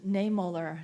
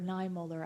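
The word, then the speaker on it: Niemöller: might know of Martin niemoller he was at nine Mulder I believe is how you say it he was a Lutheran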